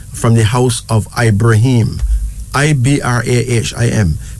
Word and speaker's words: Ibrahim: I-B-R-A-H-I-M. Pronounce Ibrahim, okay?